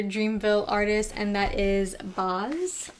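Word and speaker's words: Bas: artist and that is baz i think that's how you pronounce it i pronounce it like nas but boss i overthink it but um i've got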